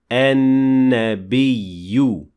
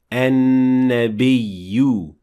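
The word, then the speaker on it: النبي: That's why we say an-nabiy, not an-nabiyyu, and not an-nabi. So the correct pronunciation is an-nabiy.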